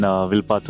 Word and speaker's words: Wilpattu: hands okay so today we are here in wipat National Park I hope my pronunciation is correct yes it's correct okay so